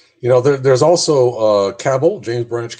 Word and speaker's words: Cabell: know there's also uh cabell james branch cabell i learned how to pronounce that rhymes with rabble according to somebody and